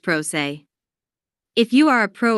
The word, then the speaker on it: pro se: a PR party or Pro litigant pronounced prosay if you are a